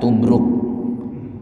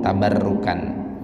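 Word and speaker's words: تبرك: Baro bertasydid dan Kaf jadi jangan salah baca tambah ruh gitu cara bacanya Jangan nanti salah baca tak Barokah dibaca tubruk Ya itu bukan tubruk cara bacanya tapi tabarraka ya tabarroku tabarrukan apa sih ini tabarruk kalau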